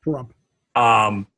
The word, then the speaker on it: Pahrump: I remember when you were living in Pahrump. Did I say it right? Pahrump? Yes, Pahrump.